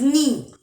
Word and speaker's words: neigh: Horse का जो sound है that is NEIGH. The pronunciation is नी.